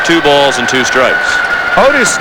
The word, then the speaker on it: Otis: balls and two strikes otis nixon is known as addis nixon in his hometown of evergreen north carolina that is the way his father's name is pronounced his parents artists and